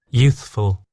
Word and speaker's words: youthful: youthful, So there's a slight gap there to give your tongue the time and the ability to go from the TH sound to the F.